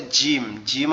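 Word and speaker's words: ج: ওকে, এর পরের অক্ষরটা হচ্ছে জিম। জিম অক্ষরটা কিভাবে উচ্চারণ হবে? জিম অক্ষরটা আমাদের জিহ্বার মধ্যকান উপরে তালুর সঙ্গে লাগবে, লেগে উচ্চারিত হবে জিম, জিম, এরকম ভাবে, ঠিক আছে?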